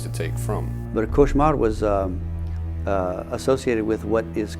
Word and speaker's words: cauchemar: Cauchemar, all cauchemar means is nightmare. It's a French word for nightmare. And there was, it's pronounced variantly in Louisiana, couche mal, which means to sleep poorly, which you could see